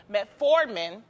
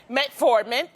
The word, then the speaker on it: metformin: that the diabetes drug metformin is that how you pronounce it I think so yeah metformin um indubitably indubitably yes